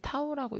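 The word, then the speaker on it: τ: 전단 강도를 이렇게 디귿자처럼 쓰고 얘는 타우라고 읽습니다. 타우라고 읽는데 모래랑 점토에 따라서 전단 강도 크기가 달라요.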